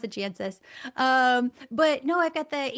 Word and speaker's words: Jancis: It's Jancis, but we don't pronounce it that way. We pronounce it Jancis.